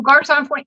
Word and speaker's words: Garçon Point: Oh, Garçon Point, yeah.